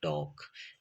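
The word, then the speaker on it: talk: इसी तरह से जब एल के बाद एफ आए तो एल की आवाज साइलेंट हो जाती है और यह अगले कंसोनेंट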